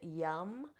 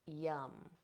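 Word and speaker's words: Yam: can do is bring in the seed sound yum so this is spelled y m but it's pronounced yum and this is a great um a great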